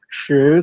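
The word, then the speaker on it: 十: Kalau 10 itu membacanya seolah-olah ya kita kasih H, shi, lidahnya itu ditekuk sebenarnya. Ya, tapi karena nggak ada tampilan visual ya nggak apa-apa, kita bayangkan saja lidah itu agak ditekuk langit-langit, shi, dan ini ketika diucapkan telapak tangan kalau diletakkan di depan mulut tidak mengeluarkan hembusan angin.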